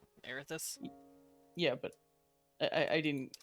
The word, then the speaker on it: Erathis: relationship with uh erathis that get your atheist i i don't know how to pronounce that which is the guys e-r-a-t-h-i-s and inventions but i didn't keep that because like that spelled like that air this yeah but i i